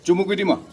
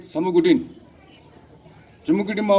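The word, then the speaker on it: Chumukedima: was uh established in chumukudima because the British were very poor at pronouncing our names they call it samugudin ma was called samukutin and if you look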